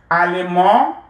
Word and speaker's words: allemand: Masculine, allemand, féminin, allemande. You add your E and then you will pronounce the D. Allemand, the D is silent, and then allemande, add your E and pronounce the D.